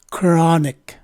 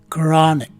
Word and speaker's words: chronic: in the first syllable the letters c and h take a single letter k sound and the letter o